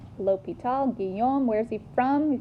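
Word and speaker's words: L'Hôpital: okay Guillaume Lupita right it looks like hospital but there's no s and that except at the end pronounced l'hopital genome where's he from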